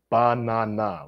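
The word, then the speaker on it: 바나나: And I was like, banana, which is how you say banana in Korean.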